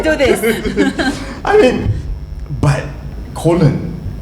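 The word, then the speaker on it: Köln: I mean, but colon. It's just. Did you not see that? Because it's spelled KOLN.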